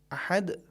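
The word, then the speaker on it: أحد: کی آواز نہیں آئی۔ لہٰذا بہترین طریقہ یہ کہ جب ہم حرف دال کا تلفظ کریں اور اس پر رکیں، زبان کو دال کے مخرج سے متصل کریں، پھر زبان کو مخرج سے الگ کریں تاکہ آواز آئے، احد، صمد۔ البتہ یہاں پر ایک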